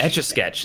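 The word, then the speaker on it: Etch A Sketch: Etch-a-sketch.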